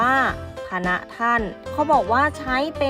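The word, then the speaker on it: ฯพณฯ: ปิด คล้าย นะ คะ เรา จะ อ่าน ว่า พะ นะ ท่าน เขา บอก ว่า ใช้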